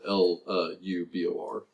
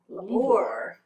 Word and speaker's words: Lubor: It is spelled L-U-B-O-R. Lubor.